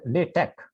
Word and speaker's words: LaTeX: the correct pronunciation is latch l a t e k do not pronounce the X fully please this is LC